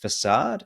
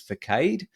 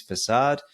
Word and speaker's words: facade: note that the term is not um it's pronounced facade it's not pronounced sometimes I've heard over the years down as Forcade that's not how to say it so it is facade and it does really provide you as the